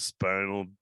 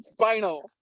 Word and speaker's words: spina: You're not our first comedian with spinal bifida. You pronounced it wrong. Come on. If I'm the second guest, you got to pronounce it right. Jesus Christ, Duante. It's spina, not spinal. There's no L.